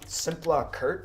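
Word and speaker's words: Szimpla Kert: the most famous One simpla Kurt I believe is how you say it we had a nice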